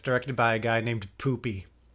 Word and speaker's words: Pupi: But I looked it up and no, Eli Roth pronounced it Poopy.